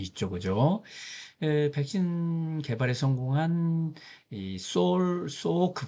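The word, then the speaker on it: Salk: 백신 개발에 성공한 소오크 박사, L자는 발음을 안 하고 있네요.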